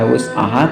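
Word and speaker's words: وسعها: Maaf ya, tadi saya bacanya hamzah bukan ayin, karena di wus'ahanya itu ayin ya. La yukallifullahu nafsan illa wus'aha, kata Allah, aku tidak membebani beban para hambaku dari ukuran kesanggupannya, kata Allah.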